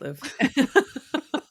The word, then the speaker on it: Louvre: Yeah, it's Louvre. Get your phlegm out. You don't have to travel to Paris and go through the Louvre.